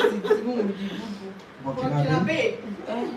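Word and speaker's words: Burkinabé: I googled it actually, but I still can't pronounce it even with the Google. Burkinabe. Burkinabe.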